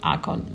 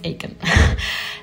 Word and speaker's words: ACON: I pronounced it correctly it's not icon I believe it's Aiken so you can find